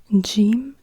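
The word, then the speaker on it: جيم: then we have Jim Jim is a j sound but it's it's like a g but it's not pronounced like G so as in go or GI or gift or whatsoever it's not like G but it's like J like in Jungle except if you are in Egypt as an example so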